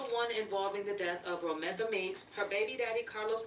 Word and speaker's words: Romika: And it's not, they said her name wrong. It's Romika. They call her Romeica or something.